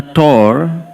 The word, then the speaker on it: tour: Donc, après avoir emmené le disciple faire un tour, certains Gujaratis le prononcent comme ''toor'', ils sont allés faire un "toor" du monde.